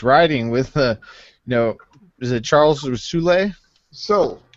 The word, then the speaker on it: Soule: With is it Charles Soule? Soul. So we just pronounce Soul.